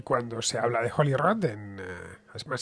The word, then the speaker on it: Holyrood: Y cuando se habla de Holyrood, además se escribe y se dice de la misma manera, lo cual ya es casi milagroso, tratándose de una palabra en inglés, porque tiene solo una